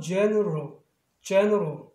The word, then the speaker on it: general: 그래서 발음은 J, 그 다음에 뭐 시와 사운드 느가 되겠죠. general.